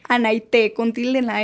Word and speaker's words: Anaite: Bueno, mi nombre es Anaite. Anaite. Anaite.